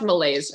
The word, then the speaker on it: malaise: ma la is and I can't help but think mayonnaise it's pronounced malaise I think malaise Malaysia